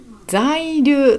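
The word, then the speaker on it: 在留: 在留と読みます。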